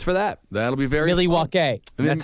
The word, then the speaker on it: Milwaukee: That'll be very Milwaukee. That's how it's pronounced. Is Milwaukee, which means the good land.